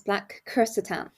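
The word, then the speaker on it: Black Krrsantan: I've he to pronounce black Catan which is sort of the literal sort of way if you say it because he's got two RS in his name so you roll that first big Catan and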